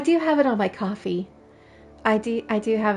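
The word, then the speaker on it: Ko-fi: here yeah it I it spelled like Kofi to me but yeah it's supposed to be coffee according to um like I was always calling it Kofi even though it says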